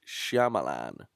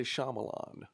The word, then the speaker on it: Shyamalan: it's really not a hard name sh Shyamalan but look how it's spelled though sh sh Shyamalan Shayan shamalan oh that's an L shal you think it was shamalan but we all say Shyamalan M Knight Knight shamalan